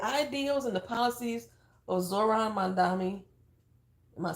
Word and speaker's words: Mamdani: But if the ideals and the policies of Zohran Mamdani, am I saying his name wrong? Because I don't want to say it wrong. Mamdani.